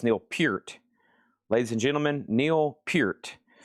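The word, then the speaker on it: Neil Peart: I learned quickly it's not Neil per. It's not Neil Pert. It's not Neil Pert. It's Neil Pert.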